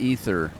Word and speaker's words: aether: I'm looking for the uh the ether win points that I can get for flying in all of a realm reborn.